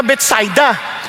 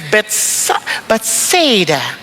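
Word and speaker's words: Bethsaida: Sa English kasi betada pero sa Hebrew Betsida ay sa mga Hudyo betsida. Okay lang ha. Kaya huwag na kayong magtalo-talo diyan basta betsida.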